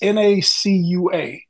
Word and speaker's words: Nacua: No, his name is it's Nacua.